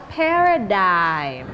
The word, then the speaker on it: paradigm: Jadi cara menyebut kata ini adalah paradigm. Paradigm. Paradigm. Iya. Paradigm. Karena dalam bahasa Inggris banyak kata-kata yang mempunyai yang namanya silent letters.